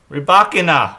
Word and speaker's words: Rybakina: Rybakina.